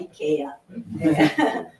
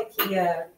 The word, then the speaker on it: IKEA: Não é essa a pronúncia correta? IKEA. Se for um sueco ali, eu tenho que falar IKEA. Mas a gente fala IKEA como internacional.